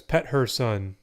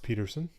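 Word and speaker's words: Pettersson: say is pettersen cuz pet her son sounds ridiculous I hope to get us that's not how you say his name younger years for Calgary and when you're American that that is always pronounced Peterson Louie Bell Petty Oh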